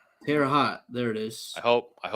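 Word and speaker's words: Terre Haute: Um, I don't want to pronounce that city. Uh, Terraot. Terra hot.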